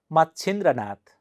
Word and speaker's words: मच्छिंद्रनाथ: आ ग्र ह आग्रह मच्छिंद्रनाथ मच्छिंद्रनाथ नुस त म छि द्र नाथ मच्छिंद्रनाथ बुद्ध चरित्र बुद्ध चरित्र